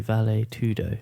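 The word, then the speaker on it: vale tudo: how do how do you say it properly valet tudo yeah it is yeah so he trained for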